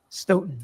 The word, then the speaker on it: Stoughton: I, First video on Sandra Birchmore, and now we know how to say a Stoughton.